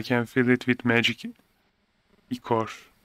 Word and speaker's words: ichor: I can fill it with magic ichor. It's pronounced ichor.